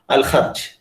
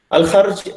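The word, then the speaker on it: Al-Kharj: You have to pronounce it like Ha, Al Kharj. Al Kharj, if you travel from,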